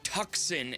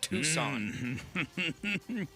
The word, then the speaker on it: Tucson: He said, "Yes, if we pronounced words the way they were spelled, we would say tuxen instead of Tucson."